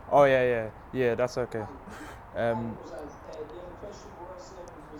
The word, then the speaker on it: Osaze: Oh no, your pronouncing name is Yeah, sorry, was it Osaze? Oh yeah. That's okay. Osaze, the other question was the Celtic qualifying for